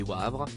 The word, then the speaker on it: Wavre: de cela un couple de femmes habitant à Wavre prononcé Wavre en Belgique se suicidait pourtant le tube international